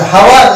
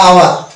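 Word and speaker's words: hour: এটা হাওয়ার না আওয়ার? আওয়ার। আমরা উচ্চারণ করি আওয়ার, আওয়ার মানে ঘন্টা।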